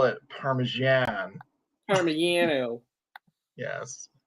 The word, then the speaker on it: Parmigiano: Parmigiano. Yes. You pronounce the G's like Y's out Yeah.